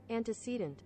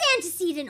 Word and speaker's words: antecedent: Anticcedant. It is antecedent. Oh my god. Oh my god. It is antecedent. Anticcedant. I've been saying it wrong the whole time.